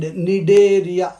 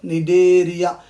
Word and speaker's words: Cnidaria: Coelenterata is the old name, and Cnidaria, C is silent, okay? Cnidaria is the new name.